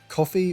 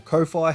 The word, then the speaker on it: Ko-fi: your means uh but it is coffee or Kofi however you want to pronounce it is the site that